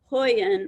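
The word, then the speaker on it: Huion: said they range between 50 for something called hoyan which is a brand that has just um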